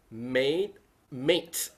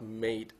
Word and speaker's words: made: Okay, I've heard someone said mate instead of made. M-A-D-E. You are made of. M-A-D-E. Pronounce the D sound, not the T sound.